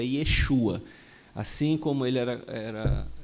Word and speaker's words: Yeshua: a pronúncia do nome a pronúncia correta do nome do Senhor Jesus é Yeshua assim como ele era